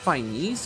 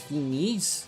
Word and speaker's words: finesse: It's not Chinese, it's Finese.